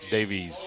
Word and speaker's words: Daviess: Davies Davis Davis Davies if you're local it's North Davis yes if you're from North Gator it's Davies yes cuz that's how it's spelled phonic has proved to